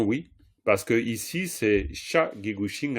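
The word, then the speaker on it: ཤ: quoi, je veux dire, le son, il est sec et haut. Vous diriez pas, par exemple, 1 kilo de viande, sha, kilo chick. Impossible. Ça se prononce pas du tout comme ça. Vous diriez sha, kilo chick, sha, sha. C'est vraiment sec et haut, sha.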